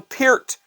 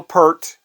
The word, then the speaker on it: Peart: he rest in peace his name was Neil Peart Neil Peart was his name not Neil pert he didn't it's not a shampoo Neil Peart is how